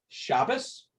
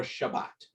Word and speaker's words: Shabbat: So is the name of the Sabbath Shabbos or Shabbat? Ashkenazi Shabbos, Sephardic Shabbat.